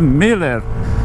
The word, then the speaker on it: Muller: Se escreve Muller, mas se lê Miller.